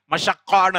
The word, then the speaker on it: மஷக்கா: தமிழ் நினைச்சுட்டு இருக்காங்க இல்ல அது அரபி மஷக்கான்னு அர்த்தம் மசக்கமா இல்ல மஷக்கா ஷீன் காஃப் அது நாளடைவுல உச்சரிப்பு கொஞ்சம் கொச்சைப்படுத்தப்பட்டு மசக்கமா இருக்குது அதை நீங்க அவங்களுக்கு திருத்திக் கொடுங்க மசக்கன்னு சொல்லாத மசக்கா அப்படின்னு சொல்லு அப்படின்னா அழகான அரபு அரபு